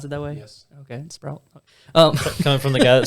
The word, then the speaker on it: Sproul: Do you have to pronounce it that way? Yes. Okay, Sproul.